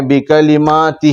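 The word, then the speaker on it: بِكَلِمَاتِهِ: یہ الفاظ بکلماتہ، بکلماتہ، دیکھو با زیر بی، کاف زبر ک، بک، لام زیر لی، بکلی، میم کھڑا زبر ما، بکلمہ،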